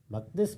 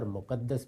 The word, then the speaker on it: مقدس: مقدس بھی اور مقدس بھی دونوں تلفظ صحیح ہیں.